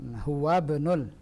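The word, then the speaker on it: هو ابن: Ini hamzah apa ini? Hamzatul wasl. Huwabnul. Nah.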